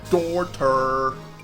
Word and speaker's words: Dorter: I really pronounce that O. Dorter. Like dork.